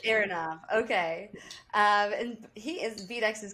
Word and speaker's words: Aronov: Either one will work. Aronov is probably more closer. Aronov.